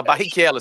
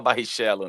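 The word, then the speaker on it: Barrichello: correta fabon Tá certo Kica italiano né você fala você fala barriquelo você não fala barrichelo né fa chiquérrimo é o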